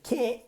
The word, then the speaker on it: can't: We don't really pronounce the T. So we say I can't swim.